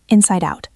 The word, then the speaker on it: inside out: Let's practice inside out because the pronunciation can be tricky. It links together. Inside out. Almost like one word.